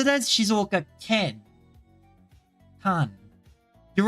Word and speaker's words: 静岡県: 静岡県 It says it as Shizuoka Ken. Kan. You're right. I should be saying it as Kine rather than Ken. I guess I was saying it as Shizuoka Kan rather than Shizuoka Ken.